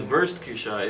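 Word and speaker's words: Wurstküche: It's burst kusha.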